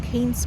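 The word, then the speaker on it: Cairns: So before akala ko ang bigas sa sa Kanes ay kinpronounce ko ng bonggang-bongga yung R pero Kanes pala guys.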